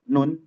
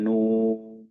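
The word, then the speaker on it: ن: Kalau kita berucap nun, nah itu bukan Al-Qur'an. Kita sedang menyebutkan huruf hijaiyah nun, ya. Nah, itu tidak terhitung sebagai bacaan Al-Qur'an. Tapi kalau kita bacanya nuun, nah itu Al-Qur'an dan dapat pahala ya.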